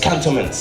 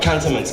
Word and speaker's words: Cantonments: the market yeah again I'm pronouncing as Cattleman's it's okay yeah alright cantonments Cattleman's is what's known